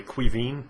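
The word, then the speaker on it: Caoimhín: Quivin is Kevin in Irish, which is really awkward when you're young and you can't spell your own name on your Irish test.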